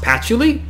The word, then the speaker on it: Patchouli: simple battle against patchouli oh you're telling me it's pronounced patchily oh i'm sorry i'm just reading it as spelled yeah anyway the reason